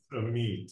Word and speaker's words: Amit: is a meet is is that how you pronounce a meet or what's what's the right way of saying your name just so everyone meat yeah perfect can you share a